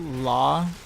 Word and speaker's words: Logitech: It says on Google it's pronounced Logitech.